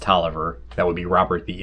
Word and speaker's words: Taliaferro: in 1675 along with robert taliaferro pronounced toliver that would be robert